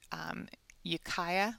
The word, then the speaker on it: Ukiah: i come here you'll see that i have ukiah i think is how it's pronounced in mendocino county california usa so what